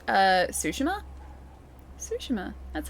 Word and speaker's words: Tsushima: Sushima. That's how you say it. Sushima. That's how the place is pronounced.